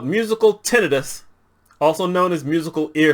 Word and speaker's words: tinnitus: along with the water, sometimes I'm going to say tinnitus. My mother was Southern, my grandmother was Southern, and that's just how we pronounce stuff. But I didn't find out until just before I decided to do this video that the medical people call it tinnitus.